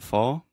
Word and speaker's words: fall: the final L but the ah combined with the dark l sound almost makes the